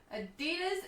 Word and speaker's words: Adidas: Adidas is said like we do it in Danish, not like the crazy American.